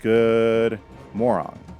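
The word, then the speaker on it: god morgon: Got Morgan, pronounced good moron.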